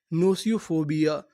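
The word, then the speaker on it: gnosiophobia: नोसियोफोबिया यानी यहां पर हमें जी का उच्चारण नहीं करना।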